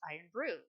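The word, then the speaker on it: Irn-Bru: Smee Arby said Iron Brew, pronounced Iron Brew.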